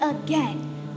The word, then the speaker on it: again: We say again like N, as in pen or 10. Or hen.